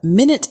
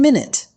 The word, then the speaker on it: minute: As an adjective, minute means extremely small, as in, the artist paid minute attention to every detail in the painting. When pronounced differently, minute is a noun referring to a unit of time.